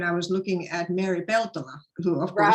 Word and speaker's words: Peltola: And somehow I came across your name when I was looking at Mary Peltola, who, of course. Right. And that's the way I say it, too. Peltola is the way to say it.